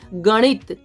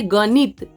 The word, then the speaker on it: गणित: और जैसे गणित, ये नहीं कहेंगे गणित, ये गणित, ये छोटा मतलब इस तरह से जो नौ है ये इसको अड़ बोलते हैं, अड़।